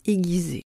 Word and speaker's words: aiguiser: savez-vous aiguiser les aiguilles comme quoi on prononce le U dans aiguille mais pas dans aiguiser les hommes sont des